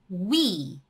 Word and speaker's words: 위: That become 위.